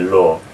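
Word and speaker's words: לא: Okay, so lo, and again this aleph here, in modern Hebrew at the end of the word it's usually not pronounced, they just say lo. But if we're pronouncing it we'll say lo, with the catch of air at the end.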